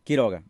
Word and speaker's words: Quiroga: say yeah my will you say last name key toga okay killer all right I had it right